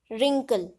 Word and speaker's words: wrinkle: So in these words W is a silent alphabet.